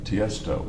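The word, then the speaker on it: Tiësto: t s t o so the name is Testo it's not initials it's Testo yes okay okay I'm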